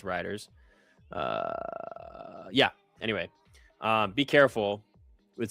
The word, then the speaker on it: Reuters: coming in from how do somebody say you pronounce it? Riders? Yeah, Riders. I said Reuters. Yeah, so it's Riders.